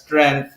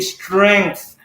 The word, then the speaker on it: strength: always tell me, Mark, that's not how you pronounce strength, because I pronounce strength as strength. And then they tell me, no, there's an ing in there. And they would keep on reminding me that when you pronounce strength, it should be ing, so it should be strength.